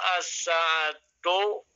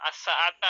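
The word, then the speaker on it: الساعةَ: Adhabu as-sa'atu as-saniyah. Ya, as-sa'ata ya bacanya ya, harus difathahkan.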